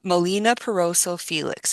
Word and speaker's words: Melina Piroso Felix: Uh, Molina Perroso Felix.